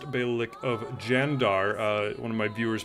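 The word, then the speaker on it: Candar: uh the Bic of kandar which I believe is pronounced bik of jandar uh one of my viewers pointed that out uh C's are pronounced as J's in Turkish so thank you very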